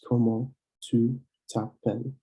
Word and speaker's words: comment tu t'appelles: When you ask somebody their name, you ask comment tu t'appelles. Same thing with the U and the T, you pronounce it as one thing and you link it together.